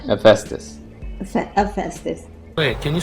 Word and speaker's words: Hephaestus: Poor Festus. Hephaestus.